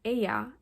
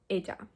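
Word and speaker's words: ella: instead of Joe and Aya instead of Eda usually the way that Spanish speakers pronounce the Y and the Double L is by having their upper teeth and their lower teeth touch so first I'm going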